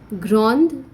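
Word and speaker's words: grande: not pronounce the d grand we pronounce the d because it has e after it okay so it's noir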